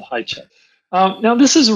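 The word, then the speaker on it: Hajicek: oh yeah but Doug I think he pronounces it hi check hey check okay uh it's spelled h-a-j-i-c-e-k so for those of you who know better you can you can write in and tell us what the pronunciation is but it seems like I've heard him called high check um now this is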